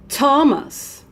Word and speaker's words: Thomas: look at this name would you pronounce thermos like this or Lomas like that of course not you pronounce Thomas let's do it Thomas